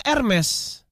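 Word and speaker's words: Hermès: Carrefour OK Google lima Hermes nah Hermes ini merenggut dibacanya ermes gue Elements pakai Z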